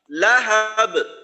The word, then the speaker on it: لهب: নারন যাতা, نارا ذات আচ্ছা লাহাব, لهب হা যেন লম্বা হয়ে লাহাব এমন না হয়, লাহাব।